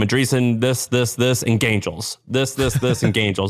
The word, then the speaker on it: Gaingels: If you Google it's it's spelled Gaingels, like gain, like g a i n, and then gels, Gaingels.